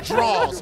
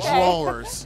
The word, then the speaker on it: drawers: The only time black people pronounce the ER at the end of the word is when they say Officer.